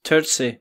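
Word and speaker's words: Turczi: try to pronounce his last name because it's Turtsey. Is it pronounced Turtsey?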